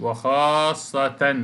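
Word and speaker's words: وخاصةً: يعني وخاصة، شوف وخاصة دي تنوين اهو، بنطق نون بس مش بكتبها، وخاصة.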